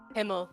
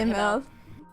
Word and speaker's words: Himmel: Himmel, not Immel.